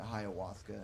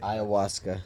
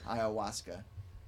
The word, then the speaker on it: ayahuasca: be the dmt or the hiawatha something like that i don't think i pronounced that right ayahuasca ayahuasca wait what's ayahuasca it's